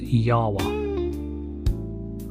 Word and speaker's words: Jawa: Or I think it's supposed to be pronounced Yawa.